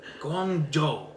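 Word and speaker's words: Guangzhou: I'm ready for it Guang zooo like Joe oh gjo oh gong Joo dude Chinese pronunciation could it be any harder Louise Guang Joe I would never get that until someone told me seems like seems you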